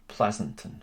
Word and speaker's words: Pleasanton: a time and I I hope I'm pronouncing that right Pleasanton is that correct that is correct it's science very pleasant